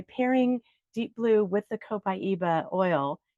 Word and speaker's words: copaiba: tree that's 100 feet tall and it is pronounced copaiba my friend Lisa and I met some people